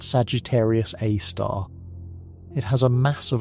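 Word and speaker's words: Sagittarius A*: We call it Sagittarius A, pronounced Sagittarius A star.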